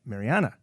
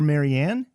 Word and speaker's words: Marianne: out more about mariana i want to make sure i got it right mariana some people call her marianne um the song is